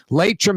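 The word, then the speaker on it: Laitram: Latrim is spelled L-A-I-T-R-A-M.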